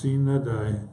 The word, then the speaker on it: sine die: Instead, Congress adjourned sine die, pronounced sine die, without a day, and adjournments an adjournment sine